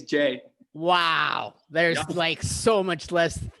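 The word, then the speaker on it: Jae: I said Jai instead of Jay. It's Jay.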